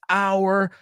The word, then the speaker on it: our: This is our hour. And no one's going to take it from us. Pero ¿quieres saber cómo yo lo digo? This is our hour. O sea, para nativos, O-U-R suena como A-R-E, el verbo cero estar, you are.